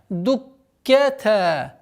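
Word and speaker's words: فدكتا: Дуккета. Обратите внимание на удвоение каф со свойством фрикативности.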